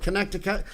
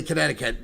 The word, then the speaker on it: Connecticut: at the University of Connecticut. I always say Connecticut, but I could only spell it in grammar school if I wrote out Connect, I cut.